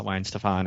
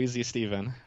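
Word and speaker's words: Weihenstephan: bit while you struggled I didn't I didn't call it Weezy Steven but I after after hearing that uh video I sent you where people are mispronouncing it um I'm gonna brew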